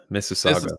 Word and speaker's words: Mississauga: Mississauga.